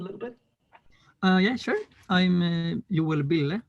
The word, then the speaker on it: Joel Bille: I'm Joel Bille, is how we pronounce it in Sweden.